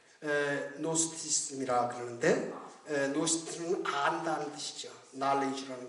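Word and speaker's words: Gnosticism: 예, 노스티즘이라 그러는데 노스티즘은 안다는 뜻이죠. knowledge라는 그런 뜻이죠. 그래서 GNO 그노스티인데 그 자는 G자를 발음을 안 하거든요. 그래 어떤 사람들 그노스티스 그런데 노스티스 이렇게 이야기하는 거죠.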